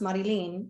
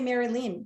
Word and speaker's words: Marilyn: obviously like marilyn but it's spelt m-a-r-y-l-i-n look mum mum south american it's pronounced marilyn which i get but growing up i'm like in school you know me teacher and yet you still say mary lynn there's no hyphen yeah it's just maryland yeah oh